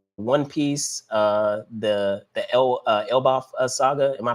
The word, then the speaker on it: Elbaf: which is uh One Piece uh the the Elbaf Saga. Am I pronouncing that right? Elbath.